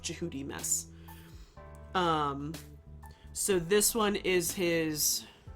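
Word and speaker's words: Djehutymes: then you have uh jihudi mess which is tutmos. Tutmos is a ro greek or helanized version of jihudi mess.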